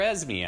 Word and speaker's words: Esme: as marela but now I'm like oh you're as me I don't even think of it that way